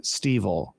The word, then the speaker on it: Stevel: Shelob's Crack of Doom, Stevel. Rhymes with Weevil.